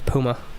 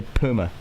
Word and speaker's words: Puma: Well, how do you pronounce Puma? Puma. No, you don't. That's a lie. That's a lie. Did you say Puma? Puma. There's a U. Puma. Like rhymes with humor. Say humor. Humor. Now say Puma.